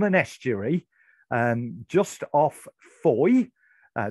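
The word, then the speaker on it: Fowey: estuary um just off foy uh that is the correct pronunciation you will find um fowwee if you can't find it on a map um f-o-w-e-y uh but foy it's called and what you had to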